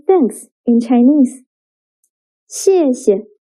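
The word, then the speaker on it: 谢谢: 谢谢. The second character is pronounced with a neutral tone.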